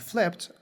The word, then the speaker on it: flipped: words um there is Ed which is not pronounced like a normal Ed but rather a t sound I do not say